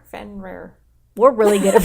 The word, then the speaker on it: Fenrir: Fenrir. Fenrir. We're really good at pronouncing things We're today.